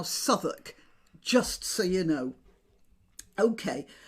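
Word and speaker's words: Southwark: to be right so this would be pronounced by mouth America by most Americans as South walk I suppose but over the years it has eroded in British English and it's now Suffolk just so you know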